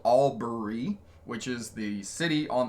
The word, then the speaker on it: Albury: we're in Albury Aubrey it's called Aubrey it's it's spelled Albury which is the city